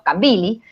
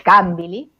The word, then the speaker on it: Kambili: comentarios en relación con cómo pronunciamos los no africanos Kambili, que lo pronunciamos Kambili, y es Kambili.